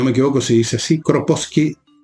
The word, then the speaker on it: Kropotkin: Proudhon o Proudhon, depende de cómo si lo pronuncian en francés o en inglés. El Bakunin, un ruso, otro ruso, el príncipe Kropotkin, si no me equivoco se dice así, Kropotkin, o sí, por ahí, y el señor Malatesta.